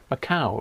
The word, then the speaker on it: Macau: and rob and gavin macau rhymes with cow was a portuguese colony